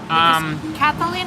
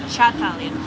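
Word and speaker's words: Cătălin: Catalin is Catalin, not Chatalin.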